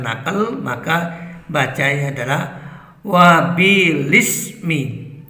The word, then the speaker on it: وبالإسم: Karena ini adalah bacaan naqal, maka dibaca sebagai wabilismi. Ya, seharusnya dibaca sebagai wabil ismi.